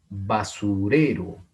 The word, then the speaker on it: basurero: Porque tienen el acento en la penúltima sílaba. No en la última, no en la antepenúltima, en la penúltima sílaba. Basurero, basurero.